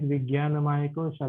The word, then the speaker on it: Vijnanamaya Kosha: The pronunciation is Vijnanamaya Kosha, like you pronounce the Jnana Mudra or Jana Mudra.